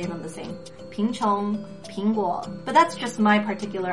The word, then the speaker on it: 苹: And if you've watched our previous videos in the series, you already know that there is basically no difference between the pronunciation of P-I-N and P-I-N-G for many Chinese speakers, especially those in Taiwan,